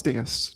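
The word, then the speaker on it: dais: You guys pronounce it DAS, but it's Deas, just so you know.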